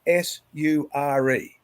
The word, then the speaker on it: sure: whole lot different okay pronounce s-u-r-e have you got it sure correct where was the h you see sure is